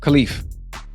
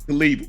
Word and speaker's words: Khelif: that how you say her name Ash yeah khif khif Won Won her won her first match of